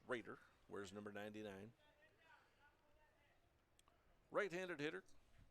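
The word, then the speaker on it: Roeder: brings up Ryan Raider Raider spells his last name r o e d r pronounced Raider where's number 99 right-handed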